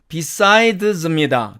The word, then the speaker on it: besides: 첫 번째로 D나 DE 다음에 오는 S는 Z로 발음을 합니다. 자, 이 A번에 나오는 이 단어의 사전식 발음은 besides입니다. 그러나 besides 이렇게 발음이 됩니다.